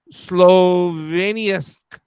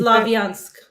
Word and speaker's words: Slavyansk: It places larger cities of Kramatorsk and Sloveniansk. Kramatorsk and How do you say it? Slavyansk.